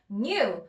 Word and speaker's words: knew: So it knew 여기서 knew 할 때 K는 묵음이에요. 그래서 K 소리 내려고 애쓰시면 안 되고요. knew 그럼 K 빼면 new만 남죠.